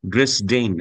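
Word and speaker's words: Dresden: মনে হয় জার্মানে অন্যভাবে উচ্চারণ করে এখানে আছে ড্রেস ডেইন হ্যাঁ উচ্চারণ এভাবে করে আর কি এটা ছিল জার্মানদের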